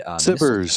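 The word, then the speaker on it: SBIRS: I think there's one called Spears, I don't know how it's pronounced, but there are a lot of infrared Sibbers. It's pronounced Sibbers.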